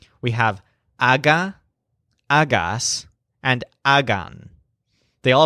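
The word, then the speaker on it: haga: us are very easy just think hog with a silent H we have Agha Agha and again they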